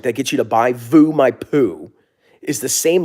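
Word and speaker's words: VOO: in treasuries what about Vu why would you buy V I don't understand Vu Vu rhymes with poo never forget that Vu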